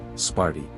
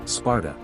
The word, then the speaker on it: Sparta: Interestingly, in modern Greek both the city's name and the name of its mythical founder are pronounced almost identically, Sparti. In antiquity, however, things were more complicated. In the Doric dialect native to the Lacedaemonians themselves, it was pronounced Sparta, whereas in the Attic,